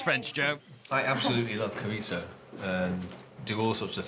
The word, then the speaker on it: chorizo: I would always say chorizo. Or some people say Chorizo. Chorizo. Chorizo. I pronounce it chorizo. They were pronouncing the Z, which you don't do in Spanish. Silent.